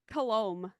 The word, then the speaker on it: Colombe: The B is actually silent. How do you say So Colombe. It's Cologne? French. Oh, wow. It's Yeah. French? Yeah, it's French.